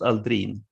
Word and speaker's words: Aldrin: he is obviously swedish descendant it should be pronounced aldrin and we made footprints in lunar soil